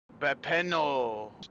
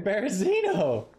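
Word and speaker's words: Berezino: I am at Bepeno. That's what it looks like it's spelled. Like. Oh, dude, you're in Berzino.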